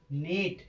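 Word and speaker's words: knot: तो ऐसे शब्दों में के अपना क्या रहता है? साइलेंट रहता है।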